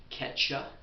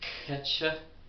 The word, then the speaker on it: Quechua: about the language Quechua, which is, I think, pronounced Quecha because the Q's are far deeper down the throat than in regular, in other similar languages, and there is no equivalent in the English.